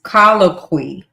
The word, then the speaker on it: colloquy: So it's C O L L O Q U Y. So that is colloqui a conversation.